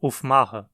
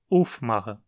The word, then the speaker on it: aufmachen: Dizemos aufmachen e não aufmachen. O acento cai no prefixo, aufmachen.